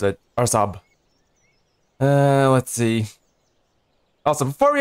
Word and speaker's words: Araçoiaba: And yes, that's how you pronounce it. Araçoiaba.